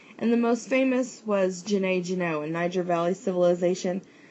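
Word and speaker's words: Djenné: the most famous was Jene in Niger Valley civilization. A lot of resources spell it with the silent D at the beginning.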